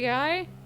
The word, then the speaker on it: Guy: It's guy, like, hey guy. Okay, in French it's Guy. So I always say Guy because of that, which is a really